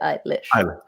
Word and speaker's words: Eilish: It is Eilish. Okay. Like eyelash, but Eilish. So drop us a Billie anecdote. Just one. So for context, for those who don't, my husband has been Billie Eilish's tour manager since the beginning.